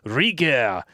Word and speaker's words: rigueur: Rigueur, pronounced rigueur, French for accuracy or exactness, please.